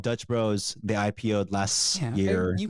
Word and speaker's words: Dutch Bros: fun of me because I called it Dutch Dutcher Bros or Dutch Bros okay my other friend from Portland made fun of me because butcher the name anyway yeah go ahead